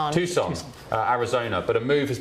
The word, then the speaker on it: Tucson: FIFA hasn't confirmed the move, but Iran have been scheduled to train in uh how do you pronounce that? Um, Lori Tus Tucson, Tucson, Arizona, but a move has been a possibility